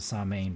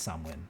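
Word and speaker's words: Samhain: good time for it for sure during um samwin some pronounce it samain but it's swin that's how it's pronounced it is um all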